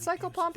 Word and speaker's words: psychopomp: she's so cold but psycho pomp is easy I know how to say psycho and I know how to say pom focus on the task